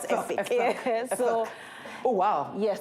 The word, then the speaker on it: Efik: So I'm Efik, I'm Calabar, I'm Efik. That's the way it's pronounced. Oh, Efik. It's Efik. It's not Efik.